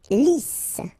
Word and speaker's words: lisse: Lisse. Double S here, so it's really a strong S. Lisse. Okay, don't insist on the final E. Lisse.